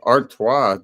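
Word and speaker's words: Artois: think it was either CU artoa t o i s at the end is how you pronounce it in French or Belgian I I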